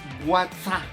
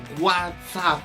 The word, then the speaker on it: WhatsApp: tuve fue fue decir whatsapp y no se dice whatsapp se dice what's up exactamente porque acuérdense que